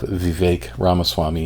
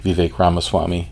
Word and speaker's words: Vivek Ramaswamy: interview if you can call it that of Vivek ramaswamy and that's how you pronounce it Vivek Vivek ramaswamy and Don Lemon was just an absolute 88